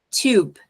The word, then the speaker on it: tube: pouquinho nessa palavra ali tube como que eu sei que a pronúncia desse u é desse jeito é igual um escorregador que não é um som de ã porque depois da letra B eu tenho uma letra e esse e é chamado de Magic i